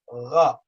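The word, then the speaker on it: ر: letter kha, kha and ra, ra. To some, they may sound the same. They are not the same because when you pronounce them, they come from two different locations.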